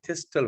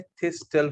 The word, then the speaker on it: thistle: सो इसका क्या नाम बताया मैंने, थिस्टल फनल, THISTLE, और आप टी को साइलेंट भी रख सकते हो, आप थिस्टल फनल बोल सकते हैं, राइट।